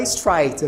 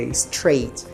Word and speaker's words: straight: Cuidado para não falar straight, ok? Straight, esse A é tensão de E, então fica E-I, é straight.